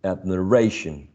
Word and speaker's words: admiration: true okay okay now which one do you think is stressed which is the most prominent syllable of the four syllables admiration the first the third syllable the third syllable admiration all right now when